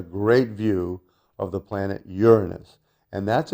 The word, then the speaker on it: Uranus: view of the planet Uranus and that's its proper pronunciation all planets are properly pronounced with the accent on the first syllable right it's Saturn not